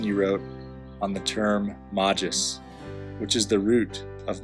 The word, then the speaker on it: magis: You once shared with me a reflection you wrote on the term magis, which is the root of magister and magistra, Latin words for teacher. We know that this M vowel soft G traces its foundations back